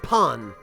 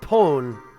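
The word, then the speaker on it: パン: Portuguese word for bread it's pon although I think in Portuguese it's pronounced pone or or something slightly different but uh but in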